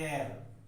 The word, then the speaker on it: heir: इसका pronunciation dear student होता है एयर।